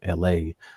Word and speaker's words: ELHAE: LA is spelled ELHAE, and he's like cool.